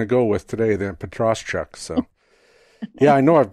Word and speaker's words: Petroschuk: My last name is pronounced Petroschuk. Although I have a caveat with that.